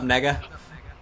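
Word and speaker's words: Negga: specify that yeah it's it's spelled n e g g a what's up Nega tone it down a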